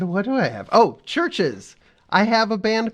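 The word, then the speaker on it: Chvrches: is called churches it's pronounced churches nope it's pronounced churches but it is spelled CH HR V c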